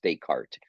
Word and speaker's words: Descartes: Descartes, and let me just drop his name in here real quick. It's kind of spelled funny, but it looks like Descartes, but his eyes pronounced Descartes.